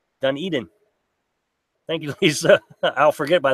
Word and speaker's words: Dunedin: at least it's kind enough to help me pronounce that again it's done Eden Dunedin thank you I'll forget by the next time